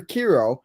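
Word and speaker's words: Quero: bro you just said is it oh yeah hero hero okay so we got Edgar KIRO and we got Kai Bush a left-handed starter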